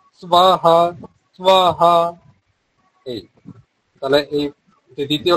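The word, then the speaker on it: স্বাহা: এর উচ্চারণটা করার জন্য উপরের পাটির যে দাত রয়েছে তা নিচের ঠোটে স্পর্শ করবে সবাহা সহা এই তাহলে এইযে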